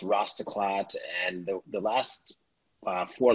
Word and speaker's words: Rastaclat: little bit of heritage in it and it's pronounced rastaclat and the last four letters of the name